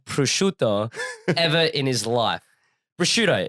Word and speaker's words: prosciutto: Prosciutto. If I'm Australian, I'm just going to say prosciutto, right? Yeah. But I think the right pronunciation is prosciutto.